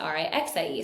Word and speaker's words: Rykse: It's spelled Rykse, but you pronounce it Rixie.